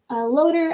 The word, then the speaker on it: LOTR: loader thing bt dubs i do pronounce lotr loader i don't know if that is typical it's how i've chosen to say lot lotr uh palantir i'm